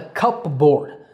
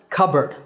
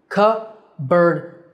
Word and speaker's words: cupboard: Now, this is not a cupboard. I know it's spelled like that, but it's pronounced cupboard. Cupboard, cupboard.